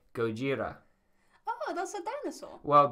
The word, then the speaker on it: Gojira: Well, because the original name of the band was Godzilla, and they changed it to the Romaji spelling of Godzilla. So the Japanese pronunciation is Gojira.